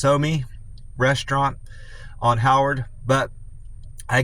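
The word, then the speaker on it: Psomi: Somi, I guess the P's probably silent, so it's probably pronounced Somi Restaurant on Howard.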